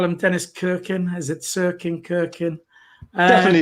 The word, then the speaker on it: Cirkin: Terry, you call him Dennis Kirkin. Is it Cirkin, Kirkin? Definitely Cirkin.